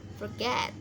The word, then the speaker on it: forget: Contohnya ini forget, cara bacanya forget ya, penekanannya di suku kata kedua get, itu forget.